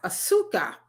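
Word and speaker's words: azúcar: And Javaya say it's pronounced asuka. Okay, now I know asuka, which is sugar.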